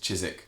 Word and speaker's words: Chiswick: Chiswick is like spelt like Chiswick. Like Southwark, almost. Southwark. So Chiswick Park is the name of the stop. Yeah. Chiswick. It's just Chiswick.